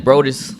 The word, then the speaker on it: Brodus: Brodus, Yeah.